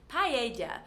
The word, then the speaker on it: paella: Next, we have another Spanish food, paella. So this is difficult for some people that don't know that the double L is actually a Y in Spanish.